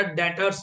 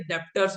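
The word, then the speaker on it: debtors: पहले दिन वर्ड बताया डेटर्स याद है हम लोग ना बोले तो क्या बोलते हैं डेप्टर्स हमें थोड़ा पता है डी साइलेंट है मैंने तो कभी बोला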